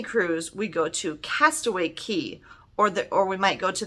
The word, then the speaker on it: Cay: This word, C-A-Y, which means a small island, is actually pronounced key, like K-E-Y.